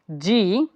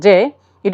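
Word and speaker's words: J: ডি ই এফ এফ জি এইচ এইচ আই আগে আমরা এটাকে বলতাম জে বাট ইটস নট জে it will be জেই জেই কে ইটস নট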